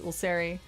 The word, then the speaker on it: Ulseri: Our good rules fairy, and her name happens to rhyme with rules fairy. It is Ulseri.